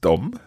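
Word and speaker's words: dem: seeing that we've got another word that's spelled d-e-m yep that's still pronounced dom yup and it's the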